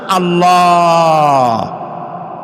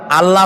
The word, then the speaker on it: আল্লাহ: কি গুণ বলেন কি গুণাবলীতে বিশ্বাস আল্লাহর নাম আল্লাহ বলেন তো আল্লাহ নয় কিন্তু আল্লাহ হচ্ছে অশুদ্ধ শুদ্ধ হচ্ছে আল্লাহ বলার সময় মুখটা